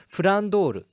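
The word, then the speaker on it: Flandre: just mixed up, because if you listen to the Japanese pronunciation, it's Frandoru.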